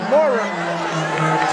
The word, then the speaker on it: Maurer: Goes by the name of Johnny Maurer, or Maurer. M-A-U-R-E-R.